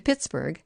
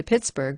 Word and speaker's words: Pittsburgh: Then the sound of the name was good, and to this day Andrew Carnegie spells the final syllable B-U-R-H and pronounces it with a loving oatmeal brrr.